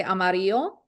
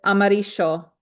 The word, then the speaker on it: amarillo: example, you can say amarillo, and the double L is pronounced with a y, amarillo. If you go to, I think it's Argentina, I think they say amarillo, like a SH, amarillo.